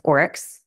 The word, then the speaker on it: Oryx: um love my practice management software which is orex o r YX um I spell it when I first started everyone's like excuse